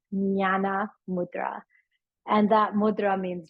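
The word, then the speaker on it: jnana: It's called nana mudra. Nana is spelled JN a na. So it's a very like a gurgly silent J sound. Nyana mudra.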